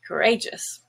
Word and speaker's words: courageous: then edge courage now if you say courageous which is an adjective the a now is no longer schwa but gray courageous the word inflamed is